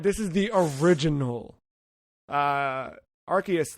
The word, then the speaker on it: Arceus: saying pokemon legends arceus i've always pronounced it arceus am i incorrect uh it's one of those gift jif situations uh interesting it is it is it is arceus all right arceus tim